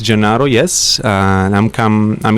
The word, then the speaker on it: Gennaro: impressed with that uh it's not really easy name to pronounce by the way um my name is jonaro yes and I'm come